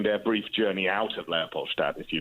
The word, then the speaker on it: Leopoldstadt: Yes, I think it's been said as, Tom's such a trickster because, it's Leopoldstadt is the district.